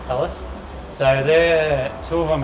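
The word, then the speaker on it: Talus: i think it's pronounced i was calling it tallest but apparently that's wrong right that's right tell us so they're two of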